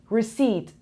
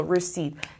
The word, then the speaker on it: recede: So recede, this is silent, this is e long, this is a short. So recede که معمولا اینجوری با 2 تا نقطه نشونش میدم.